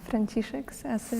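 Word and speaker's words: Franciszek z Asyżu: Franciszek z Asyży.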